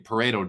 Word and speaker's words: Pareto: Unfortunately, Pareto doesn't rhyme with burrito.